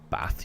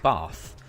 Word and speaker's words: Bath: But I am very well aware that you do not pronounce it Bath, you pronounce it Bath. That's how it's supposed to be pronounced.